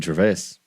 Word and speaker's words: Gervais: How do you pronounce his last name? Gervais.